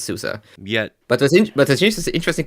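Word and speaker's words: SUSE: is cute and uh and it's souza not sue's not susie it's souza yeah but i think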